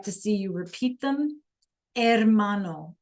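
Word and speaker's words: hermano: Mano. The H is silent.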